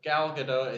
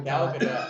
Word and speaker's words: Gal Gadot: the T is not silent. She's not French. She's Israeli. I thoroughly researched it. Thoroughly Every researched. time I see her Who? name, I read Gal Gal Gadot.